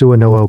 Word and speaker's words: swnw: This is where the SWNW, pronounced Suanoo, comes in.